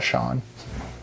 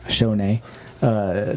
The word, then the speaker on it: Schoen: I think it's actually pronounced Sean. Shone.